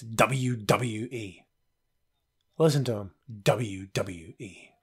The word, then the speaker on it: WWE: pronounces the letters WWE it's not Debbie Jody it's WWE listen to him WWE